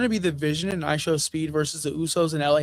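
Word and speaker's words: IShowSpeed: And I didn't I figured they're gonna pull ISO speed. ISO speed. How do you say his name? I show speed.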